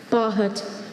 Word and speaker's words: bahut: Hopefully the combination Bahut. of all of those will help them. Bahut.